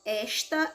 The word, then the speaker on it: esta: para aquecer a sílaba tônica da palavra esta é isso certo então ela é paroxítona e a sílaba tônica e da palavra está a sílaba tônica é o tá então ela é oxítona então confira só respostinha